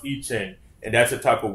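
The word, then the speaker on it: I Ching: capital i space c-h-i-n-g all right and it's pronounced iching and that's a type of witchcraft okay it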